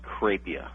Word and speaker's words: Crapia: say your last name it's pronounced kpia kpia okay that's okay everyone gets it wrong looks like crappie when you look at it at first uh kpia his website